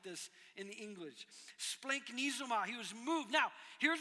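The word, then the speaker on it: σπλαγχνίζομαι: This is why I write it on my notes phonetically. Splanknizoma.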